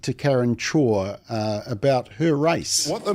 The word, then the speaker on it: Chhour: And just to give you some background, 2 years ago, Karen Chhour, is that how you say it? Chhour, who was the Minister for Children. Chhour.